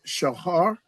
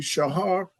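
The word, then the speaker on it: shachor: One is shahar, or it could either be pronounced shahar, or it could be pronounced kachar. Depends on who's saying the word. Ashkenazis, they always like to put a k. They always like, like they got something in their mouth. But it's really shahar and kadar.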